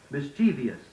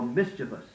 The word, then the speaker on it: mischievous: too many times you hear someone say athlete instead of athlete film or film mischievous for mischievous look up doubtful words in